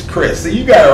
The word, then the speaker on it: Krizz: It's spelled with K's, K-R-I-Z-Z. And it's not pronounced Krizz, it's Chris.